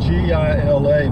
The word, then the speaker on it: Gila: It's G-I-L-A, but it's pronounced in Spanish Gila.